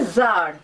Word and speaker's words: Tsar: এই গল্পে একজন জার, হ্যাঁ, এই TSAR, এই কথাটার উচ্চারণ হচ্ছে জার।